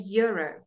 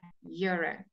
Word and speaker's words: euro: The Y sound is a consonant sound at the beginning of a sentence. Do you have a euro? That's why we say a euro.